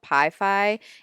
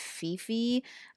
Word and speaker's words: Pi-Fi: This is obviously called Pi-Fi, and I am calling it Fifi.